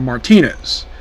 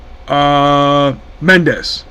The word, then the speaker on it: Mendez: Now, by the way, Wilhelmina herself was voiced by Erica Martinez. I think it's pronounced the last name. Let's see. Mendez. Yeah, Erica Mendez.